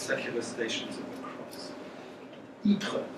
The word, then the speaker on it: Ypres: Ypres, so that's Y-P-R-E-S, which the British Army could never pronounce, and they just called it wipers.